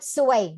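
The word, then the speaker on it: ซวย: So if you don't say it carefully, it might mean different things, like the word suay, that means pretty or beautiful, but suay means bad luck.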